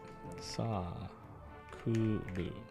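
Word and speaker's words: サークル: Sa kuru. Which means club activity. And the pronunciation is sa. Sa kuru. And like an extra A.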